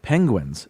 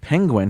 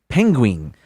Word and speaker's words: penguin: narrated a documentary about penguins but every or animals anyway and every time he said penguin he mispronounced it and he would say penguin and uh like the word ended with w-i-n-g so uh they played